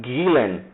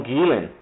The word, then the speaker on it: Gülen: dele, que é o Gülen, acho que a pronúncia vem do alemão, Gülen.